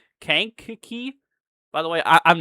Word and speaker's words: Kankakee: It's pronounced Kankakee.